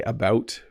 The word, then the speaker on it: about: When I say about it has kind of a rounded O sound, about. It's almost two syllables, but we do say it quickly like he was out and about.